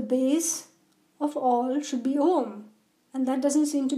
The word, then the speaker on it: Om: Om, which is spelled how?